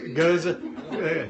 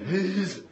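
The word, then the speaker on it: Gueuze: Yeah, depending upon where you are, there's about five different pronunciations I've heard. Goose, goza, geez. There's a whole bunch of them.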